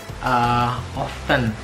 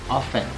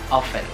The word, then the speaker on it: often: Nah, itu kan kebanyakan orang-orang tuh ngucapinnya often gitu, ya kan, tapi sebenarnya itu silent T sound, jadi T-nya tuh nggak dibaca. Jadi the way you pronounce is often.